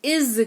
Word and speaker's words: is: है इस्तेमाल करते हैं शब्द इज का, एस लगा हुआ है लेकिन ज उच्चारण होता है, वह ईमानदार है, ही इज ऑनेस्ट।